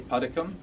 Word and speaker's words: Puddicombe: In England we say Puddicombe.